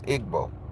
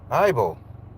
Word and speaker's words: Igbo: So it's an I. It's Igbo. So you're Igbo. So help me understand what is Igbo. Oh, the G is silent. Oh, Ibo.